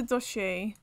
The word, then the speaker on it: dossier: you search everything now pronounce it the first part like saucy but with an area but with a d really stop distracting your